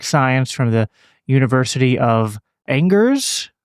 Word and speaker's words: Angers: PhD in economic science from the University of Angers. Angers.